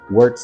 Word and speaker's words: Werkz: going over holsters that just works no I did not spell that wrong it is in fact spelled w-e-r-k-z works is a holster manufacturer company